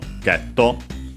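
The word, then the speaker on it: ゲット: In this case, let's say better by hitting, because then we have item getto, of course, item get from English.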